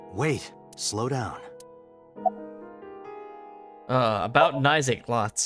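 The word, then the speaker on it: Naixatloz: Uh, about Nisa Lots. It's spelled N A I X A T L O Z.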